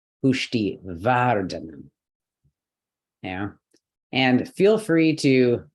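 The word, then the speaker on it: पुष्टिवर्धन: last one all right no this is a light syllable okay again DH is one letter VAR okay here we got our heavy syllable consonant vowel consonant so pushti vardana yeah and feel free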